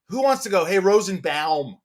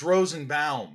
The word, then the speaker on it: Rosenbaum: you kidding me it's rosenbaum i go yeah well i'm not saying rosenbaum i don't want my mouth to go i like that and that was the end of it i mean you know it was just like but it is rosenbaum i say rosenbaum right it's kind of funny i'm the bomb right i'm not yeah the